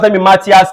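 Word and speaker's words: Matthias: are look at is called three is called Matias CL pronoun Matas CL M Matas m in the year 1838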